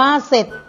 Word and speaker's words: เสร็จ: ซ้อ รอ ไอ้ จอ เสร็จ อ่าน ว่า เสร็จ สังเกต ดู นะ คะ ว่า คำ ว่า เสร็จ เนี่ย พยัญชนะ ต้น เป็น คำ ควบ กล้ำ สอ เสือ กับ รอ เรือ แต่ เมื่อ เรา อ่าน ออก เสียง จะ ออก แค่ เพียง สอ เสือ ตัว เดียว เท่า นั้น ต่อ ไป คำ ว่า